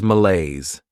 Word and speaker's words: malaise: Next is malaise. This word has two syllables and the stress is on that second syllable.